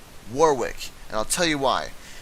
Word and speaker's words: Warwick: I was talking about this entire time is pronounced Warwick and I'll tell you why storm killer brought